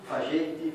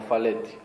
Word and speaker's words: Falletti: Ciao Cesar, sono Giulio Zanardi del Corriere dello Sport, Stadio, e due cose, allora la pronuncia del nome, noi siamo Falletti, Fagetti, Faietti, come? No, Falletti. Falletti.